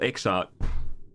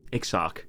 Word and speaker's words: Exarch: The Crystal Exart. Exart? The Crystal Fart. The matter for which I have summoned you pertains to Alexandria. Exarch. That's how you say it.